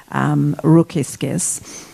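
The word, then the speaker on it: Rokiškis: So I have a very vivid picture, actually, in my mind of this town of Rokiskis, which in Yiddish they used to pronounce Rukishok.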